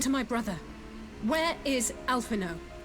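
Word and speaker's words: Alphinaud: my brother where is alpha no alpha no the d is silent my lady your brother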